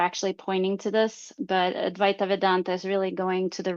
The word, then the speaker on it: Advaita Vedanta: So, one of your traditions that you said you had learned from was Advaita Vedanta. It's Advaita Vedanta. Advaita Vedanta.